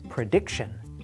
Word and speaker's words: prediction: to pronounce the word the general formula is this stress the syllable that comes before the t o n ending that might sound a